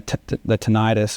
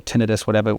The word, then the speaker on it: tinnitus: When I was having, when the tinnitus or tinnitus, however you want to pronounce it, was happening, and it was getting really bad, I was putting my son to sleep.